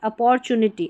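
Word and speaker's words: opportunity: अपॉर्चुनिटी अपॉर्चुनिटी ठीक है यहां पर टी यू का उच्चारण च है यू है ना तो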